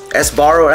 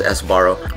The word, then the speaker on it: Sbarro: don't know how to ever say it esaro Sbarro that's what I'll say it as I always pronounce it as esbar but this is the slice I'm going to